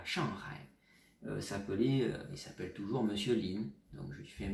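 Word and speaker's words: 林: Oui, en tant que nom de famille, et là je vous donne sa prononciation, parce que c'est un nom de famille assez connu en Chine. Monsieur ou Madame Lin, si vous entendez ça, c'est l'équivalent du nom de famille français La Forêt.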